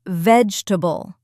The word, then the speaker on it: vegetable: Vegetable, not vegetable. We say vegetable. 3 syllables, not 4.